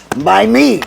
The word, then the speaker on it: MiMe: My me, not mine, my me.